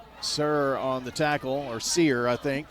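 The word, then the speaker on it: Serr: Sir on the tackle, or Sear, I think. S-E-R-R says, pronounced like the old store, Sears.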